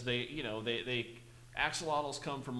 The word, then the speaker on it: axolotl: there is a Pokemon that looks like an axolotl yeah well I'm gonna have to look that